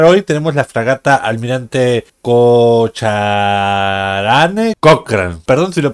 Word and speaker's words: Cochrane: Bueno, ustedes saben que yo pronuncio mal Cocharanes, no cualquiera, Cochrane. ¡Cochrane! ¡Cochrane es Cochrane, no Cocharanes!